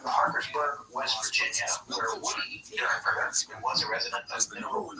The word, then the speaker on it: Derenberger: I thought it was Dernberger, but I did hear, I think in the interview that we're going to have some excerpts from tonight. I heard it was Dernberger. It's spelled like it's Derenberger. It is spelled Derenberger, but I think it's Dernberger.